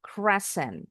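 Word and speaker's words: crescent: Cresent all together. Well done. Hati-hati ya, bunyi S sama Z jangan ketukar. Jadi ini bacanya bukan cresen dengan bunyi Z, tapi presenten. Cresen.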